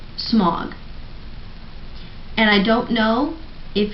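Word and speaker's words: Smaug: just kept it but he didn't say smog he said smow like what is a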